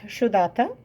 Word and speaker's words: Sudata: My first name is a little easier to pronounce: Sudata. It's spelled S-u-d-a-t-a, but it's got an SH sound to it.